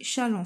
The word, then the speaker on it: Chasles: les relations de charles vient de l'écrire ça s'écrit chaze mais a écrit challans fait ça se lit challans fait donc je